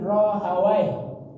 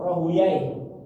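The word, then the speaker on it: Rahawayh: Ini menurut Imam Ahmad bin Hambal ee Imam Ishaq bin Rohawai atau Rohuyai boleh bacanya bisa Rohawai, Ishaq bin Rohawai atau Ishaq bin Rohuyain.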